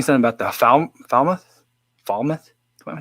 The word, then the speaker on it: Falmouth: Someone was saying something about the Falmouth.